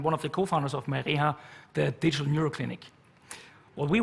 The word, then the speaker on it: MyReha: Are all the pronunciations correct? Yes, almost. Yeah? MyReha, but the rest was correct.